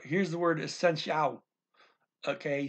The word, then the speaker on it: essencial: Now, we're ending with an L here, so the emphasis goes to the last syllable, okay? Kind of. Kind of. Because that little ooh is not emphasized, right? But the A-L is the last syllable here. And that it is emphasized, but only the A is.